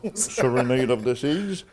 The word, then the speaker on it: Serenade of the Seas: of the Seas c'est comme ça qu'on le prononce Serenade of the Seas avec 2100 passagers et 868 rameurs donc un